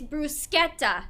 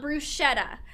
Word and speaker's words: bruschetta: People, it's bruschetta, not bruschetta.